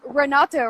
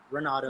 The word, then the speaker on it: Renaldo: Okay, so Yeah, it's Renato, right? yeah, Renaldo. Renato. Either Okay. way, either way works.